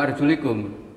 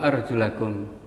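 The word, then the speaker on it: وأرجلَكم: ilal marafiqi wamsahu biru'usikum, bukan wa arjulikum, tapi wa arjulakum. Kalau arjulikum nanti kaki menjadi diusap karena ataf ke biru'usikum, tapi kalau wa arjulakum kaki menjadi dibasuh karena ataf ke wujuhakum.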